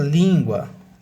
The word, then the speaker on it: língua: sílaba tônica no vim a palavra língua língua a sílaba tônica é no lim o biquíni biquíni as